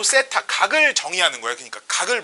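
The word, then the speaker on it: θ: 그리고 요 중심각의 크기를 요렇게 표시를 하는데 요 표시를 모르는 친구들도 있으니까 세타라고 읽으면 됩니다.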